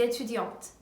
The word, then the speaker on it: étudiante: 여자인 경우에는 Je suis étudiante, Je suis étudiante. 이 트 발음이 더 나는 게 들리시죠?